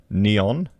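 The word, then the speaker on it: Neoen: to sign a contract with renewable energy specialist neon so they pronounce it to deliver a new tesla battery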